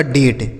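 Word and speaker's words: date: यहां ए का उच्चारण ए की मात्रा होगा क्योंकि यहां टी लिखा है। ठीक है? टी से हो गया ट। यही लिखा गया आपका डेट।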